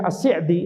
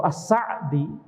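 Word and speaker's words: As-Sa'di: Di sini penulis yaitu Syekh Assi'di atau Assa'di. Walaupun ana lebih cenderung pada pengucapan Syekh Asya'di dengan kasrah. Dengan kasrah ya. Asy'di.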